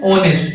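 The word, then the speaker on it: honest: अच्छा तो इसके आगे किसका यूज होगा, इसको हिंदी में लिखो, क्या पढ़ते हैं इसको इंग्लिश में, ऑनेस्ट, एच साइलेंट होता है, ऑनेस्ट।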